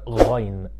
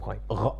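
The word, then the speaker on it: غين: The letter ghain comes exactly from the place where you do the gargling from. Like if you're gargling water inside of your throat, that's almost the sound of ghain.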